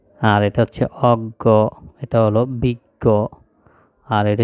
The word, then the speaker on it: অজ্ঞ: আর এটা হচ্ছে প্রজ্ঞা এই জিনিসগুলো আমরা উচ্চারণের সাথে বানানের মিল খুঁজে পাওয়া যাবে না কিন্তু এগুলো আমাদেরকে এই মুখস্ত করতে হবে দেখে দেখে বুঝতে হবে যে এইগুলোর উচ্চারণ এরকম হবে যেমন জ্ঞান বিজ্ঞান অজ্ঞ